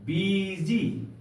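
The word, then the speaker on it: busy: सब के बीच में हुआ है तो इसका उच्चारण होगा बीजी बीजी का अर्थ होता है व्यस्त समझ गए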